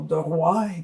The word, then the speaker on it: De Roy: And these two people are my parents, Jacqueline and Andre De Roy, or De Roy if you pronounce it in French, came from Belgium, where I was born.